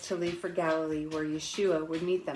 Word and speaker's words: Yeshua: leave for Galilee, where Yeshua would meet them. Yeshua is Jesus. That's his Aramaic pronunciation of his name.